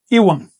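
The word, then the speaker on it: ihuan: El ligativo I se pronuncia en náhuatl Iwan. Si quieres decir I, tú dices Iwan.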